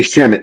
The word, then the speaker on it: Shamet: I think you just like saying Shamet because it rhymes with damn it.